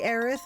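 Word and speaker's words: Aerith: AIS is correct. Also, normally I do say Aith, but I actually I've just got taken to using both over the years.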